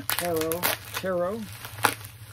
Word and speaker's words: tarot: So yeah, that's Tarot number 1, or Tarot. You don't pronounce the T really.